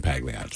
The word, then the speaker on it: Pagliacci: one of them is Pagliacci. All right? I know I'm saying it wrong. No, the texts have already come in. So one person says, hey, man, the G is silent in Pagliacci.